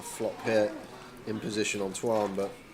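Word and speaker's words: Tuan: Make sure you spell it right. It's Twan, T-U-A-N. Not Tua, the quarterback for the Dolphins.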